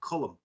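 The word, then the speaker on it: Colm: It's like no, it's Cullum. Or you can say Colin, but I think that's somebody trying to sort of spell it because posh wankers can't pronounce Cullum.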